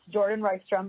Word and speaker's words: Jourdan Rystrom: VA n ry f PR om and it's Jordan rice drum and even if you spell it wrong I've actually got Google Google will